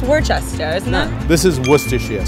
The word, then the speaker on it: Worcester: Like the sauce. No, it's Worcester, isn't it? This is Worcestershire sauce. Oh, Worcestershire. Psych! I heard it's a really crappy place to live. Worcester, yeah.